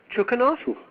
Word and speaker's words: Chukanov: and please help me with a pronunciation of your last name chukanov chukov yeah chukanov okay and is Kil the correct